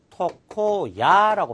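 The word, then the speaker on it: 床屋: 토코로 읽었을 때 대표적인 단어가 이발소, 이발소를 우리가 토코야라고 표현합니다.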